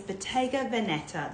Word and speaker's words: Bottega Veneta: No, it's Bottega Veneta. That is how you pronounce it.